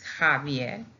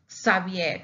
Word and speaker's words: Javier: But we have other ones, other words like Javier, the name Javier, that some people write it in the correct way with a J, that it's Javier. And even though some papas like to pronounce Javier if it's an X, no, it's Javier, even though it has an X. But some papas, they say, no, it's not Javier, it's Xavier, so we have to memorize it.